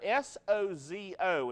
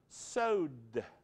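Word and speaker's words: σώζω: So that text of S-O-Z-O, a lot of people pronounce so-zo. But actually, again, it's transliterated. It's a Greek word that when you speak it in Greek has a little quiet D sound in it.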